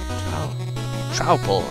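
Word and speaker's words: Troupple: Half trout and half apple. Pronounced like a mouthful. Trouble.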